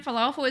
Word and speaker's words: falafel: I'm just saying falafel is not supposed to have an sound in it. I'm not saying though. I'm saying falafel. It's just a long a It's just like father falafel.